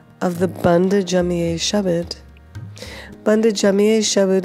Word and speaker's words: bhand: So I think one of the significant things about the pronunciation is that the word bhand, it keeps repeating over and over again. And what is bhand? You hear there's a slight inflection. It's not just bhand, but bhand, where you're making a